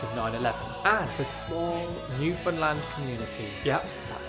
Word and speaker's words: Newfoundland: in the wake of 9/11, and the small Newfoundland community, yep, that's how you say it, that invited these come-from-aways into their homes.